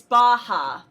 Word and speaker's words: Baja: yeah wait is it is it pronounced baja like yaya or it like baja blast at taco bell that's what their character is based off of so yes it's baja so okay but yes